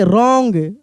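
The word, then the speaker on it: wrong: W silent रहेगा। जैसे यहां पे पढ़ेंगे right. W आर ओ एन जी। क्या पढ़ेंगे? रॉन्ग रॉन्ग डब्ल्यू आर आई एस T wrist सब फोटो के साथ दिया हुआ है।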